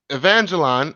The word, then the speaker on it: Evangelion: Eric, he said, by the way, the last word in Neon Genesis Ev- Evangelion is pronounced Evangelion.